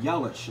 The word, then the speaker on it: Yelich: Yes, Yelich. I mean, this is a good team. I don't want to diss on that team. That's a good team. Like he said, like Jared said, Yelich is a good player too.